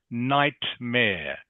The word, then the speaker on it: nightmare: So, just careful how you pronounce nightmare. Nightmare. Good. Okay. Have to make that t sound in the middle.